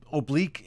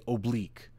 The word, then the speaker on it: oblique: And it's So oblique is the proper pronunciation. That's proper English to say oblique. However, in the military, we say oblique.